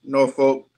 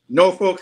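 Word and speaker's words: Norfolk: a great job um I'm gonna be nice North Folk um nor Folk St Spartans G make sure I say it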